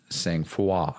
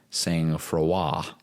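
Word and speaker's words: sang-froid: Freud but it's pronounced saying fua fua and it me means to be calm Under Pressure it's a French word and knowing that it's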